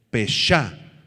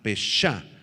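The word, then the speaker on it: פשע: Esta palabra prevaricación es la palabra hebrea peshá, con acento en la A, peshá, y significa transgresión y rebelión contra Dios.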